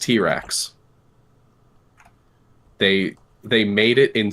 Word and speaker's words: TRX: made their top-of-the-line truck called the uh TRX pronounced T-Rex they they made it in spite of Ford